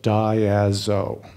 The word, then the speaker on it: Diazo: blueprints for making group blueprints and it is pronounced die as I've spoken of content of it as if